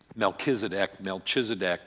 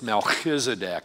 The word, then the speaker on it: Melchizedek: word about the word Melchizedek. It's a CH in the middle. It can be pronounced like it's a K. It can be pronounced like it's the CH.